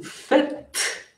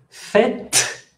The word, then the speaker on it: faites: Ici, je ne prononce pas le T. Fait, il fait, mais vous faites. Pourquoi? Parce que S final qui ne se prononce pas, E final qui ne se prononce pas, obligatoirement, le T, je dois le prononcer.